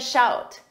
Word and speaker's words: shout: Number 14, give me a shout. First, notice in the last one, shoot, pronunciation, oot. This one, out, shout, shoot, shout.